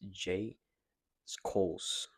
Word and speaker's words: Schulz: His name is J Skos, which is is spelled J S C H U L Z.